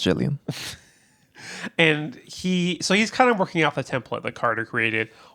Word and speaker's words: Gilligan: It's pronounced Gillian.